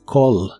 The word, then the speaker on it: call: presente de inglés es call la a de esta palabra se pronuncia como o y la doble l se pronuncia como una l normal Call call y la puedes usar